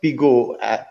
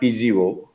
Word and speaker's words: PGO: that a small correction we pronounced P go P go it's not p0 so it's like pee and go you know it's like go for it you know so P